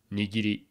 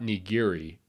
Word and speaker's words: nigiri: So first is the nigiri sushi, or just nigiri for short. And that's how it's pronounced, nigiri. The R is more of an L, sort of. So not nigiri, or even worse, nigiri.